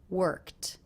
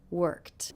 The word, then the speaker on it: worked: unvoiced so this ending will also be unvoiced worked worked and I went for a run and then